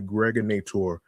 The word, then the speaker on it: Greg Nator: This is your man and homie, aka the Greg Nator. Rhymes rhymes with now or later.